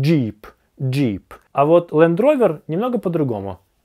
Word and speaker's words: Jeep: Произносится как «Джип». Просто сделайте так, чтобы звук "j" был более понятным. Джип.